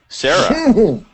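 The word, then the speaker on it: Cera: jack yeah it's Albuquerque it's Sarah Sarah spelled with a c c e r a but it's still Sarah I don't know what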